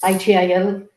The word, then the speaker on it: ITIL: His certifications include PMP, CSM, CSPO, Lean Six Sigma, Black Belt, ITL, how do you pronounce ITIL, ITIL, and AZ900.